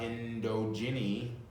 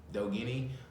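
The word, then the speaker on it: Ndogeni: fighter uh he fought indo ginny uh though guinea i'm sorry bad pronunciation n-d-o-g-e-n-i he was 21-0 and once again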